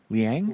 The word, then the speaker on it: Liang: Jimmy, how do you pronounce his last name? Liang? Liang? Lang, okay. Lang.